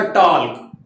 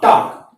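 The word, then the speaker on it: talk: अब देखिए ये वर्ड काफी बच्चों को मैंने इसको बोलते हुए देखा, टाल्क। ये टाल्क नहीं है, क्या है, बोलिए एक बार, बोलिए। हाँ, टाक। ये क्या बोला जाएगा, टाक।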